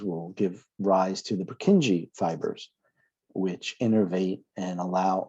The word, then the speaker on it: Purkinje: lot of this you have this is a purkinje purkinje so i think i'll spell it right for you the j at the